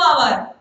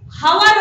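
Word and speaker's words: hour: exam देला बेले केते टाइम दिया होची 2 आवर 3 आवर एडा होची आवर ओ यू आर आवर माने हमरो आमे उच्चारण करछे आवर एडा सिंधी हावर होबनी एडार भी उच्चारण होबो आवर 2 आवर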